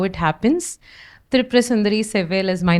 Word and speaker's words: Thirupurasundari Sevvel: And before I go to what is in the slide, she introduced my name and she pronounced it correctly. That's not always how it happens. Thirupurasundari Sevvel is my name, and I'm basically from Chennai.